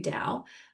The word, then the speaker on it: Dao: Um, so it's pronounced d o w dao.